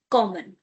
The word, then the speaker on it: kommen: To come in German is called kommen. Kommen. It sounds like the word common of English. If you wish to remember it like this for the pronunciation, sure, do it.